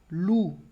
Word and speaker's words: loup: Com P, alors par exemple, loup. Loup. Percebe também que esse P do final não pronuncio, d'accord?